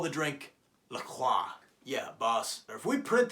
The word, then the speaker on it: LaCroix: So instead, they went with the American version and called it LaCroix.